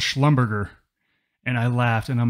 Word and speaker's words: Schlumberger: Now, look, the actual pronunciation is Schlumberger. It sounds much fancier.